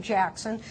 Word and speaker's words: Jackson: no longer have the last name Jackson that does rhyme with taxon.